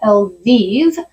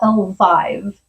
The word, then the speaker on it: Elvive: I always thought it was L'Oreal Elvive, and I was recently told that it's actually L'Oreal Elvive, and I don't know how I feel about that.